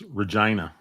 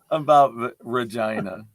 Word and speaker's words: Regina: times by the way it's Regina the city that rhymes with fun what what is he